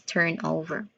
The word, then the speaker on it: turnover: We have three distinct sounds for this particular word. First, turn. Turn, as in like burn. So turn, turn. It's not torn, it's also not turn, but it's turn.